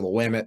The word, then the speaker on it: Willamette: our schedule and they look at you mentioned Willamette before from Oregon or the women is is actually how you say it from